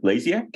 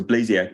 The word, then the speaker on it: Blasiak: And so my name is Blasiak, and so you can remember that because it rhymes with maniac. That's the way to get that one. So Blasiak, and I'm a researcher